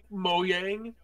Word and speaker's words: Mojang: HDR in Minecraft wha mo yang that's the actual pronunciation no I refuse is mojang I refuse it is